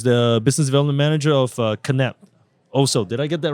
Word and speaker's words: Knapp: When I first saw the name, I'm like, it's NAP. And then uh your marketing manager did correct me a few times. I'm like, Kap. Okay. That's Yeah. Yeah. It's in German. In German, that's why.